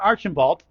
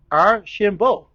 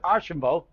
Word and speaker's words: Archambault: But for now, newcomer Hunter, okay, his name is not Archibald. The LRT is silent, Paul. Just learned today it's Arshambo. Right, got it right, right? Hunter Arshambo.